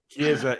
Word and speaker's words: Chiesa: Chiesa, yep.